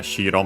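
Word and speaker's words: 白: Here we can keep it pure, as in pure, white, because yeah, shiro means white, on its own accented on the first syllable.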